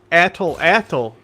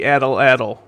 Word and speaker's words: atlatl: Well, even then, like not even just slings, like a bunch of cultures developed the atl is how it's apparently pronounced.